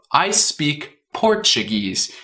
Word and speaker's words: Portuguese: Então, o brasileiro às vezes acaba pronunciando no inglês tipo português. Quando deve ser I speak Portuguese, tipo caindo. I speak Portuguese, né?